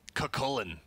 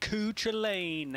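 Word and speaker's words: Cú Chulainn: And how the hell do you pronounce his name first of all? So why don't we call him Kakullen? Kakullen. Kakullen. Okay. Yeah. Not Cuchain.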